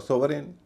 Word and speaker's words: sovereign: आप कहेंगे फॉरेन और सोवरेन, स्पष्ट है, कोई भी यही कहेगा। इसका उच्चारण फॉरेन या सोवरेन नहीं होता, फॉरेन या